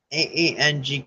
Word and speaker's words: ankh: and grabbed it all right so the ark Ang it's pronounced but it's spelled a-n-kh the ark is